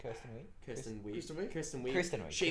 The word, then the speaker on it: Kristen Wiig: Kirsten Wiig? Kirsten Wiig. Kristen Wiig?